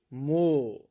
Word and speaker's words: more: More. E. We call it more. Okay. Yeah, E is silent in more.